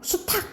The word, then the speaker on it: 수탉: 수닭이라고 안 하고 수탉 이렇게 하잖아요.